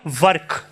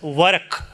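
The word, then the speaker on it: Waraq: I'm talking about something called work, which is alternatively spelled and pronounced as Warak. W-A-R-A-Q. Either Warak or Work.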